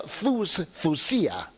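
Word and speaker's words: θυσία: Es la palabra thusía, así se deletrea, Thyysia, ¿no? Pero se pronuncia thusía. La Y en griego es doble O, thusía.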